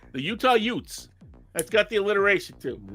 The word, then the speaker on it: Utes: see the Utah youths only it would be pronounced like Uncle Vinnie and my cousin Vinnie it'll be the Utah Utes the Utah Utes so